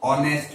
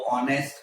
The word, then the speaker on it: honest: Now in the same way, if I take honest, suppose honest man.